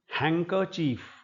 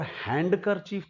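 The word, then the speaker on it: handkerchief: और हैंडकर चीफ तो बिल्कुल नहीं है। इसमें ड एक तो ड का प्रॉब्लम है। ड नहीं बोला जाएगा। एक यह चीफ लगता है देखने में। लेकिन ये वास्तव में ये छोटे वाला इ है यहां पर चीफ हैंकर चिफ।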